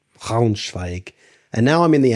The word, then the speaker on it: Braunschweig: Braun into the guttural R. Braunschweig. Braunschweig.